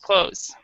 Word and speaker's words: clothes: pronounce it like this close we we don't we don't even actually pronounce the th the British British they